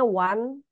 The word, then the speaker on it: one: misalnya belajar bahasa Inggris Aduh masa o n bacanya One gitu ya misalnya itu dapat dari mana itu on jadinya one gitu kan pusing tuh